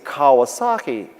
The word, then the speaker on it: Kawasaki: holy c-o-w was taken but my name is kawasaki and so i thought that's funny i'll make it holy k-a-w and it'll be pronounced holy cow but lots of people say